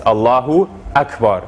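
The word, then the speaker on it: الله أكبر: doing that is adding it's like adding a w in between the u and the a here which is not a proper pronunciation of uh of the arabic it's allahu akbar so making sure to have that glottal stop in between the u and the ah another mistake too and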